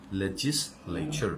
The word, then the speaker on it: legislature: Legislature means আইনসভা, লিখো আইনসভা বা আইন কক্ষ, লেজিস, LEGIS, দেখো বানানটা অনেক কঠিন, টি, হ্যাঁ, লেচার, লেজিসলেচার, উচ্চারণ বলো লেজিসলেচার, and adjective is লেজিসলেটিভ, LEGIS, LATIV, এটা হচ্ছে অ্যাডজেক্টিভ, কেমন, লেজিসলেচার।